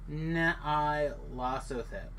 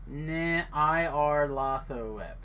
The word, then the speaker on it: Nyarlathotep: Think Egyptian Hotep at the end. Pronounce it Nyarlathotep. Nyarlathotep. Hope it's close.